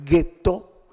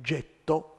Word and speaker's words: ghetto: ghetto che poi è una parola pare mal pronunciata da gli ebrei di origine tedesca che in realtà si trattava del getto cioè di una fonderia per fare monete per coniare monete in questo oggetto diventato ghetto sono stati isolati più